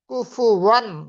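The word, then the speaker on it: كفوا: কুফুওয়ান আহাদ, কুফুওয়ান, ওয়ান, অধিকাংশ জায়গা মানুষ এটাকে উচ্চারণ করতে পারে না।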